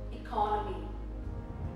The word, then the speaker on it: economy: Similarly, when we have economic, the economic state of a country, but economy, syllable stress changes.